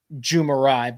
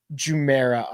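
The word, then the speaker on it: Jumeirah: want to mispronounce and I want to call it jumai but it's uh jumera I believe let me see hold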